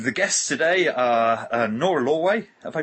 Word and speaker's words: Lorway: Uh and the guests today are Nora Lway. Have I pronounced that right, Nora?